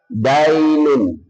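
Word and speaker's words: دَين: itu hurufnya sama cuma bacanya beda. Kalau agama dinun artinya aga agama kalau hutang dainun.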